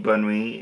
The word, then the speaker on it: bonne nuit: So, the kind of way I could explain bonne nuit is you kind of say it as one word in a sense.